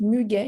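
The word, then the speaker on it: muguet: what is so yeah you're gonna pronounce it muge because there is the U all right there's the U after the G so you have to pronounce it all right if there were no you you would say but here there is the U so you have to say all right so what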